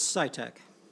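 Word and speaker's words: Sitek: in pronouncing your name it's scitec scitec thank you you have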